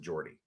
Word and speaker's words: Jordi: Depending on where you're from in Spain, it's either Jordi Rodriguez, if you're from the Catalan-speaking area of Spain, or the Spanish-speaking areas of Spain, it would be Jordi Rodriguez. But I think where he's from, they pronounce it Jordi.